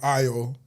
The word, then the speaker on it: Ayo: So then it's like, ah, I say AO now so that people spell it correctly. Like a Y O. You say between the two. Yeah, exactly. That's why like I'd say AO even though my name is actually IO.